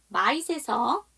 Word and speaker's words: might: If they are worried that they might not get that perfect grade, they are going to be feeling really intense pressure. 이거 어디서 끊어요? grade에서 끊어주시면 되겠죠. might에서 GH 묵음이고 그 다음 보도록 할게요.